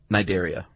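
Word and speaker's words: Cnidaria: Nidaria. Why would they put the C there? It's silent, man.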